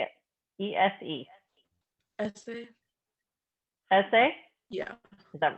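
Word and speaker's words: Ese: Essay.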